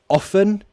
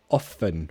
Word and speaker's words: often: do you say often is the T silent you can say it both ways sometimes often no most of the time I say often without a T but sometimes if I'm